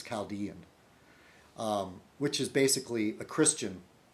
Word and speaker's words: Chaldean: A lot of Americans say Caledonian. I think it's Chaldean, which is basically a Christian.